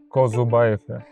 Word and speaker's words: Kozubaev: Kuzubayev. Kuzobayev. Kuzubayev. Yeah. It's a little bit accent of Russia, right? Yeah, this is mostly Russian.